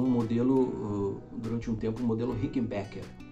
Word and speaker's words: Rickenbacker: durante um tempo modelo rickenbacker rickenbacker tem que falar e tem veia a gente falar é rica em backer a não ficar na verdade não ser a pronúncia correta tá mas é um